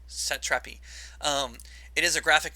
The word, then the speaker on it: Satrapi: name marjane uh sat satrapi satrapi i'm pretty sure is how it's pronounced set trappy um it is a